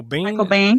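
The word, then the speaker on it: Biehn: Michael Bane.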